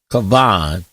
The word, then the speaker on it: kavan: The Hebrew word was pronounced kavan, which in Greek becomes kapon, and other times it's kaban. Okay, it made me think of Cinnabon. The first shows, though, how kavan, pronounced as one syllable, would pass into the Latin bread or panis.